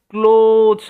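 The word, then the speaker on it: clothes: এটার উচ্চারণটা ক্লোথস হবে, ওয়ের সাউন্ডটা ওয়ের মতো হবে, ঠিক আছে, ক্লোথস অর্থাৎ পোশাক বা জামা কাপড়।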